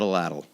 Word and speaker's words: atlatl: The proper spelling is ATLATL, So I say atlatl.